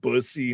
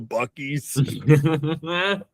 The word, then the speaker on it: Buc-ee's: Yeah, they like mispronounced it, where it's like bussy instead of Buc-ee's.